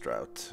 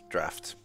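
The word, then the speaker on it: draught: It's not pronounced drought. It's draft. But why is it draft with his GH?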